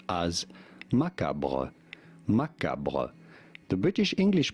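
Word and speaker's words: macabre: they say macabra macabra with an emphasis on the second syllable the American pronunciation however is as maab maab they do forget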